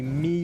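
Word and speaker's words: Mie: And this region is called the Mi or Mai, excuse the pronunciation, prefecture, which is a very famous place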